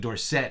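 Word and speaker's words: Dorsett: Tony Tony Dorset his original name was Tony Dorset and when he was in college and and he was getting famous uh for breaking the record and uh somebody mispronounced his name were set and he liked it he thought it sounded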